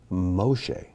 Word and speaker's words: Moshe: yestra el or israel moshe or we would say moses but it's actually moshe faro or pharaoh but